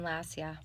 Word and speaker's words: Lossia: And so we're here with just say your name for me so I can get the correct pronunciation. Lossia. Lacia.